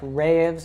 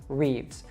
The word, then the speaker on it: Reeves: Now, the last name, a lot of people might see how long this is and think that it should actually be said as like Reeves or something like that, but it's just one syllable like the word leaves.